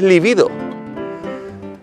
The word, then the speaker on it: libido: realmente no se dice el libido según la rae es libido curioso pero todo el mundo dice vivido lo de acentuarla bueno lo dejamos así falta de líbido yo siempre héctor porque